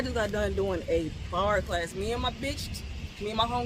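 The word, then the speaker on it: barre: B A R E. See? So, it's like bari, but it's pronounced bar, right?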